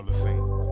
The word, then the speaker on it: Lacine: No, Lacin, right? No, Lacine. Lacin? The second S is silent.